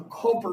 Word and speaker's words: Culper: Connecticut or New York, and they couldn't really understand why they were naming it Culpeper, and they just called it Culper. So it's actually just a manipulation or mispronunciation of the what Washington wanted to be called.